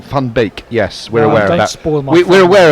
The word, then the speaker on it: van Beek: previously by the way van beek would be pronounced more like fun beak yes we're aware we're